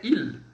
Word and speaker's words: ils: Observação, pessoal, no S a gente não vai pronunciar, tá? Então o som aqui é il, tá bom? Apenas o som do I e do L.